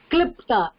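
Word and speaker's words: क्लृप्ता: குருஜி எப்படி ப்ரொனவுன்ஸ் பண்ணீங்க க்ளூரர் கிளிப்டா கிளிப்டா அந்த ஈர் சவுண்ட் வரக்கூடாதுங்க கிளிப்டா கிளிப்டா கிளிப்டா அது ஸ்லோகத்துல வரும் இல்லையா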